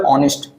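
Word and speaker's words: honest: लेकिन नहीं, इसका मैं हिंदी प्रोनाउंसिएशन करूं तो हिंदी प्रोनाउंसिएशन क्या होगा सर, ऑनेस्ट। क्या होगा, ऑनेस्ट। Clear, ऑनेस्ट।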